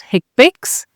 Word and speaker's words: HCPCS: The HCPCS Level 2 set is more widely recognized as HCPCS codes, which is pronounced HCPCS.